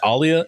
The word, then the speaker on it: Alia: Where the pronunciations are just across the board here. It's all over the place. It's Alia and Ghanima.